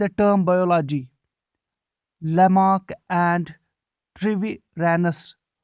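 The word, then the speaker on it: Treviranus: एक बार फिर थोड़ा सा डिफिकल्ट हो जाएगा इसको प्रोनाउंस करना। ट्रिवे ट्रिवी ट्रिवीरैनस, जी हाँ अच्छी तरह से मैंने प्रोनाउंस किया, थैंक यू।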